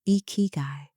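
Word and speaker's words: 生き甲斐: The sixth thing, ikigai, pronounced as ikigai, meaning the reason to wake up every morning.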